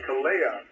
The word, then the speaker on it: Kalia: Gulf Harbour Radio, this is Kalia. How are you doing this evening? Oh, we're very well, thank you. Kalia. I'll get the emphasis on the second syllable.